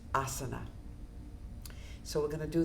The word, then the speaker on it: asana: Because that we do the yoga breath with with each of the asas. These are the the different movements. Uh, it's it's pronounced asana.